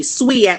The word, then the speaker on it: SWEAC: SWEAC, like you're sweeping.